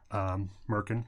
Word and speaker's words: merkin: as a pubic wig Merkin rhymes with gherkin and I think that